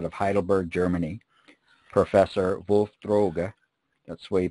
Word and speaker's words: Droge: and researcher out of Heidelberg, Germany, Professor Wolf Droge. That's the way you pronounce it in German.